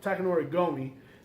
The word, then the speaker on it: Takanori Gomi: Well, Takanori Gomi.